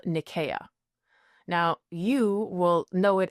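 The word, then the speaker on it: Nicaea: But the correct pronunciation and the one that they would have used at the time was Nikaya. So think of it with a K, not a C.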